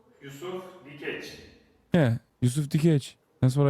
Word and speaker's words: Yusuf Dikeç: Yusuf Dikeç.